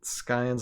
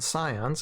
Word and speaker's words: Scions: last week was the Scions, and you know, okay, this is one housekeeping thing. I know last Wednesday or last time I kept on saying Scions instead of Scions. The C is silent.